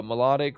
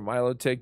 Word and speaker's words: Milotic: three we go uh melodic or milotic depending how you want to pronunciate it um this mod